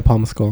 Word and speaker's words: Paul Mescal: Is that how you pronounce it? No, yeah, Paul Mescal.